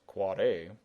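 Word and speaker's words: AAAA: is with an NS you've got your quad a yes pronounced quad a uh which is for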